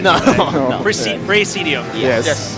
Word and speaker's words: Praesidium: show us a bit of their game called Praesidium. Is that how I pronounce Yes, it? Right? yes, that's right. I didn't butcher it, right? No, no. Praesidium. Yes. Praesidium.